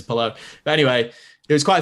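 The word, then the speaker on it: Palou: and he's lovely so he would never correct anyone who said his name wrong but yeah it's polo but anyway it was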